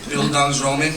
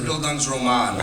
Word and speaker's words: Bildungsroman: Did I pronounce that correctly, Mr. Kaplan? Bildungsroman? That's good? Or is it Bildungsroman? That's good? All right, Bildungsroman.